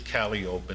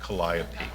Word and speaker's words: Calliope: And by the way, it is Calliope and not Calliope.